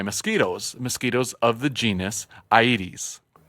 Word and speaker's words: Aedes: mosquitoes of the genus Aedes like the 80s we learned how to pronounce that actually between episodes thanks